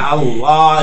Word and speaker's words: আল্লাহ: এবার আমরা আল্লাহ শব্দ এই ঠোঁট দুইটাকে গোল করে পুরো মুখে লামেটা পড়তে হয়, কেমন? জি। লা না পড়ে এক ধরনের লয়ের মতো উচ্চারণ হয়, কেমন? হ্যাঁ, আল্লাহ, এবার ঠিক আছে।